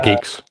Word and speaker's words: Guix: And I seem to recall there being issues when I was last trying to build my GUIX system, Geeks or whatever you pronounce it. Yeah, Geeks.